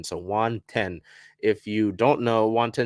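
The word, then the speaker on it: Then: the Penn Murphy move so it is spelled Juan t-h-e-n but it does it is pronounced like the number ten so one ten if you don't know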